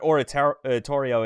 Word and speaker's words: Oratorio: Yeah, but I forget what Oratorio is, and I know it always took me a long time to get it in my head. That's how you say it, and not just auto-correct it to Ontario.